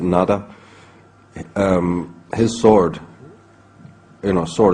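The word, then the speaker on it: Nuada: There's, in the earliest settlers of Ireland, in the very primordial times, the High King, whose name can be pronounced in a variety of ways, we pronounce it Nada.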